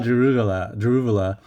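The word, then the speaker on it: Daruvala: I always think it's Drogovic, but it's Jehan Daruvula.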